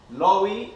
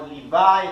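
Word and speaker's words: Loew: Okay, Maharal is an acronym for Morenu Harav, Lowy, or Levi. It depends, the different ways of pronouncing it.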